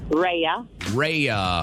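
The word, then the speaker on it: Rhea: so you want to drop it on us reya all right can you spell that real quick just to make sure we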